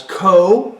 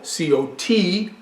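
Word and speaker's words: Cot: Now, Malbec is, of course, originated in southwest France in a place called, in an appellation called Cahors, where it's also known as Co, C-O-T, Co, and what's it called?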